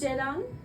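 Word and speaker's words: Ceren: Uh, my name is Jalan. It's spelled like C E R E N. And I know you don't understand anything. Only Turkish people understands my name.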